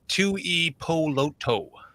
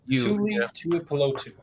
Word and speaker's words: Tuipulotu: You literally pronounce every vowel like Tuipulotu. You know, you pronounce the vowel like you would A-E-I-O. Yeah, Tuipulotu.